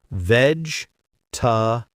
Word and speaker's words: vegetable: Vegetable. Three parts only. Veg tabb. Forget the e sound in the middle.